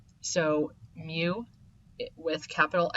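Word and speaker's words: μ: mean is represented by the Greek letter mu and that's how it's pronounced mu so mu with capital x and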